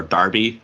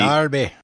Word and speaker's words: Derby: mercy side Derby or Darby as they pronounce the word Derby Darby yes the mercy side